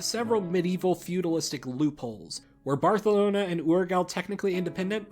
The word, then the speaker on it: Barcelona: own thing anyway Along Came the county of barthelona and yes that's actually how Barcelona is supposed to be pronounced the county of Barcelona was a Frankish